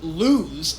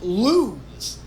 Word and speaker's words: Luz: People are like, it's not pronounced lose, it's pronounced lose.